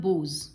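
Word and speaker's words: boughs: No time to stand beneath the बोज, इसका pronunciation होगा बोज, and stair as long as ship और cause.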